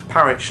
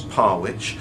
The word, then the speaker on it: Parwich: is parwich so um Parrish looked like the smart way of trying to pronounce it but no it's parwich and I've had a